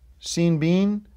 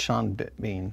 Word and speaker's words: Sean Bean: bean yes sean beans i thought you're mispronouncing pan but in this bean no i'm not going to mispronounce pen this is a b not a p well you mispronounced sean so i think it's supposed to be scene bean well no it's sean let me see it well if it was shawn it'd be s-h-a-w-n yeah that's sean bean it's not sean